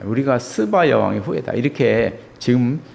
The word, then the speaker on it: 스바: 그래서 보면 스바 영화 되는데 뭐 어떤 영화에 보면 뭐 시바라고도 하고 또 어떤 때는 또 쉬바라고도 하고이 발음이 그렇습니다. 스바 뭐 시바 쉬바 이렇게 말하고 있습니다.